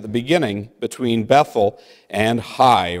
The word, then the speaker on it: Hai: beginning, between Bethel and Hai," or it can also be pronounced Hay, "unto the place of